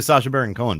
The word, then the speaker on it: Sacha Baron Cohen: Isla It's pronounced Isla. Isla Fisher, yeah. Who's married to Sacha Baron Cohen, by the way.